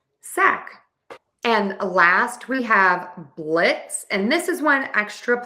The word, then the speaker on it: blitz: So to say blitz, just remember, add an S to the end. We don't say the Z. Blitz.